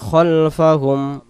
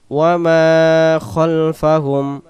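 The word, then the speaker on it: خلفهم: ইয়ালামুমা বাইনা ইয়ালামুমা বাইনা আইদিহিম আইদিহিম আইদিহিম ওয়ামা খলফাহুম খলফাহুম খালফা হবে না উচ্চারণ খলফাহুমলাম বাইনা আইদিহ ওমাফাহুম ওয়ালাহুনা ওয়ালা ইহুনা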